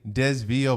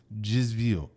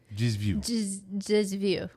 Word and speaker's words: desvio: That does not say Desvio, by the way. This is a Portuguese word. This is how you pronounce it. Ready? Very strange. Desvio. Desvio.